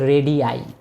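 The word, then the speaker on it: radii: আরেকটা আই বসিয়ে দিবা তাহলে সেক্ষেত্রে উচ্চারণ হচ্ছে রেডি আই ওকে এখন আরেকটা বিষয় ভাই আমাদের জানতে হবে চারটা টপিক ক্লিয়ার করেছি।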